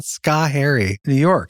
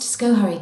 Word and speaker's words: Schoharie: Pretty sure it's not Schoharie. New York, Schoharie County, Schoharie. I'm sorry, New Yorkers. I don't live there. Robot lady? It's fun to hear you get it wrong, though. Chris, it's pronounced Schoharie County.